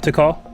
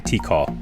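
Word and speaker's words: Tikal: to call to go okay to call is that is that how you say it to call yeah okay i keep saying t call i would not i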